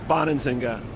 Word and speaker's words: Bonansinga: jay how do you say your last name bonanzinga bonding singer yes well said dre and what nationality is